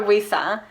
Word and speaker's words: Wuisa: And we just call her Wuisa. Yeah. So instead of pronouncing the L, Luisa, we do Wuisa with a W.